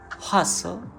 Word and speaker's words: hustle: Now finally, when we do not pronounce T, of course that is called silent T. In words like listen, castle, hustle, and even moisten, we write T but never pronounce it.